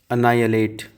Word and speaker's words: annihilate: ठीक है, नेक्स्ट आते हैं annihilate, ANNIHILATE, annihilate, ऐसे पढ़ लेना इसको तोड़ करके, नाई अ लेट, ऐसे पढ़ना है इसको आप।